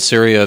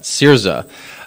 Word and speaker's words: Syriza: And then now just last night, we had the Greek elections, and Syria, the, I think I mispronounced that, Syriza, has won the election.